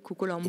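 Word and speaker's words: Kokolampoe: Et ce théâtre, Kokolampou, s'appelle Kokolampou. Peut-être justement. Et pourtant, ça s'écrit O-O-E. O-E. O-E. C'est comme le ou de chose.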